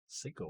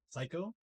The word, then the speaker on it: Seiko: Seiko watch. That's what it is. The fact that he mispronounces it is even more sad. Psycho? Seiko. Seiko. It is Japanese.